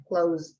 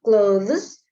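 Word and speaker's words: clothes: Itu with z, close, not closes but close.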